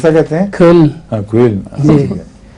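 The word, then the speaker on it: Köln: ہاں کوئل. جی. یہ لفظ کولون جو ہے وہ غلط تلفظ ہے، اوڈی کولون سے بن گیا ہے زیادہ مشہور. جی اصل میں کوئل ہے.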